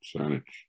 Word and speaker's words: Saanich: of cnic and you know since they couldn't pronounce it they call it saanich so that's that's how this this sandwich here